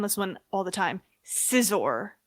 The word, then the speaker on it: Scizor: It's actually pronounced Josh corrects me on this one all the time. Scizor. It's Scizor.